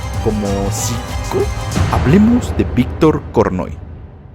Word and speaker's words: Korchnoi: Hablemos de Víctor Kornoy. Inclusive he visto que lo pronuncian Korchnoi.